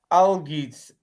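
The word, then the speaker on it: Algiz: Algids.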